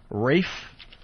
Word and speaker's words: Ralph: say this I think Rafe even though his name is spelled Ralph yeah Ralph Fiennes it's race